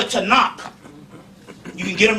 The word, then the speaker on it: Tanakh: big and they got a book called the tanakh you can get them right in barnes and nobles and borders the tanakh it's it's pronounced t-a-k-a-n-a tanak it is pronounced takana in english with